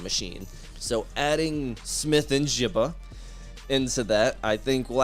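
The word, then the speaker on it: Njigba: I always butcher the name. Njibba. I was going to say Nickba. I was going to be off again.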